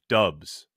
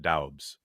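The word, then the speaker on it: Doubs: covers nevada sports says the pronunciation is dubs not doubts dubs romeo dubs all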